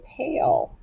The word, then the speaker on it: pale: Right, if we go ahead and mark it, it's a one-syllable word and it has a long vowel sound. Cross out the E, and it is vowel consonant E.